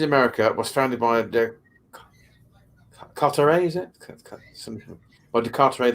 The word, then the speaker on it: Carteret: Is it Carteret? Because it's not, because they don't pronounce the E-T, do they, in French? Or the T.